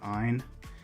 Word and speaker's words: Ise: So as I hold this battleship together, here we have the Ein class battleship, or it's ISE, or Ein, pronounced in Japanese.